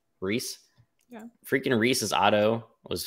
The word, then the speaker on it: Rhys: rice how do you pronounce Rhys Reese yeah freaking Reese's Otto